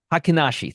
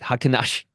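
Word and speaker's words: Heikin-Ashi: Matt H hen ASI hakashi thank you God bless you Matt hakashi sounds like a sneeze um and uh this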